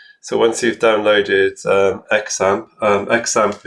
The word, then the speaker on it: XAMPP: So once you've downloaded Xampp, Xampp is pronounced Xampp. I've heard it pronounced Xampp.